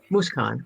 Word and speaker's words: Mooskaan: think i got the first right okay it's moose khan yes moose khan okay now the second name is the harder